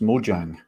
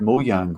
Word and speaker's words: Mojang: learned today is that it doesn't sound like it's pronounced mojang it's pronounced mo yang which i suppose makes